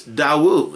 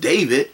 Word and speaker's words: David: we learned is that his name in Aramaic is Dawu. It's not pronounced David.